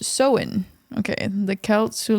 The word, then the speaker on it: Samhain: to the ancient Celtic Festival of Samhain uh pronounced so in okay and the Celts who lived 2000 years